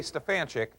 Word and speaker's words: Stefanchik: the proper spelling s-t-e-f-a-n-c-h-i-k so whenever I say Stefan chick I don't always get it back the way